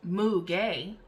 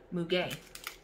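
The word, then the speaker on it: muguet: that what it is oh it's pronounced moo gay m-o-o-g-a-y mu-gay but it's lily of the valley so okay i wouldn't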